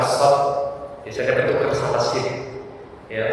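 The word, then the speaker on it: ص: Biasanya ketika sampai pada pengucapan shad biasanya bertukar sama sin.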